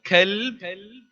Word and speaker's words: kalb: Now kalb is a dog, and qalb with a qaf is your heart. So whenever you make a dua, please pronounce the qaf and say, oh Allah, qalbi, my heart, and not kalbi, my dog.